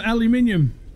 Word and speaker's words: aluminium: I got some aluminium. Or is it aluminum?